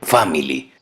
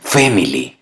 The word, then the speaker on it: family: La siguiente palabra, family, que en español significa familia, la pronuncian family. Todos sabemos que la letra A es E en inglés. Lo correcto es family.